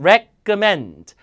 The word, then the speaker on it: recommend: 레코 아니고 끄예요. recommend.